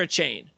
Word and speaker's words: Achane: Is it Achani or a chain? A chain. A chain. Yep.